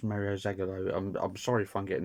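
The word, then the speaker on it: Mário Zagallo: Mario, I think he's actually pronounced Mario Zagallo. I think it's Mario Zagallo.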